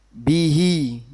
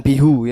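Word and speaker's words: بِهِ: Kalau diberi harakat kasrah contohnya bihi, bukan bihu ya. Bacanya apa? Bihi.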